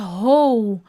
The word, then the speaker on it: whole: E a pronúncia é ho. Ho! Lembra do Papai Noel?